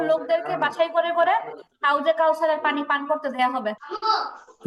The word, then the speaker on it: كوثر: إنا أعطيناك الكوثر কাউসার, সাথে তো টান হবে না, সাথে কোনোভাবেই টান হওয়ার কারণ নাই। আর রটা কি হবে? রটা যেটা সাকিন হয়ে গেছে, তাই না? ওয়াক্ফের কারণে এখন সাকিন হয়ে গেছে। র সাকিন তার ডানে জবর, তাহলে রটা মোটা হবে।